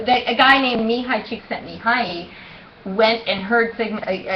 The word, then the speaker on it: Csikszentmihalyi: into that so that a guy named Mihai csikszentmihalyi went and heard Sigma not Sigmund Freud I'm Carl Jung he went to hear dr.